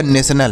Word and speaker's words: national: तो देखिए NA से पढ़ेंगे ने, और TIO को पढ़ेंगे श, और NA से पढ़ेंगे नो, AL से लॉ पढ़ेंगे, तो इसे पढ़ा जाएगा नेशनल।